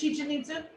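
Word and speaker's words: Chichén Itzá: i find it fascinating i have been to chichen itzu is that how you say it chi-chin meets you it is chicha ninsu oh it's it's so exciting and i went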